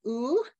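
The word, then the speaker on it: او: Basically what it is, it's a gender neutral third person pronoun pronounced as U.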